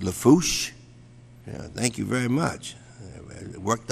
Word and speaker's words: Lafourche: parish president and of course uh for uh pronounced lafourche thank you very much worked on that all